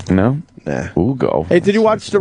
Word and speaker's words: Hugo: I say Hugo Chavez. I say good riddance. I'm gonna go with I'm gonna go Ugo. I'm not gonna pronounce that H. No. Nah. Ugo.